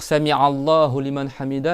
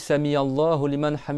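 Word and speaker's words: سمع الله لمن حمده: il y en a au lieu de dire sami Allah lian hamid il disent sami allahah hamam il y en a plein il font comme ça c'est samia d'accord au milieu de la gorge je sais pas samiya ou sami et c'est pas alamine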